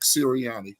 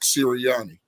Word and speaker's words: Sirianni: We know if you look at Dick Sirianni, yes, I said it right. Dick Sirianni.